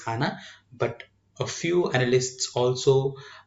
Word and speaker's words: HANA: itself been you know pronounced popularly as hana but a few analysts